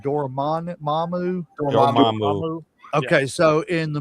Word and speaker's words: Dormammu: I can't pronounce his name. Mamu. Dormammu.